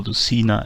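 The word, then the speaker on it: Lucena: And here white has reached the so-called Luthena position, or Luthena as the English may pronounce it.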